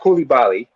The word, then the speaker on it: Coulibaly: By the way, it's pronounced Coulibaly.